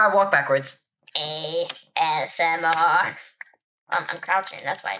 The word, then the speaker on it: ASMR: AMSR. AMSR? That's the wrong lettering. Wait, what? It's ASMR.